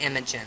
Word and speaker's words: Imogen: is imaging or imaging I think it's pronounced Imogen though that's how I'm gonna